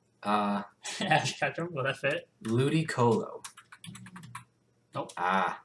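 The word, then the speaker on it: Ludicolo: Ludy Colo. Nope. Ah, how about Ludy Colo? I don't know how to spell that. L U D I C O L O. Ludy Colo.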